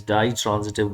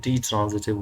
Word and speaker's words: ditransitive: Today we are going to discuss the fifth kind of verb that is known as ditransitive verbs, or you can pronounce it detransitive verbs, both are right.